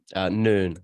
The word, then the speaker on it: Nuine: Is that pronounced right? Noon, just like the Noon. midday noon.